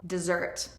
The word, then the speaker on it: dessert: Dessert. Dessert has the stress on the second syllable.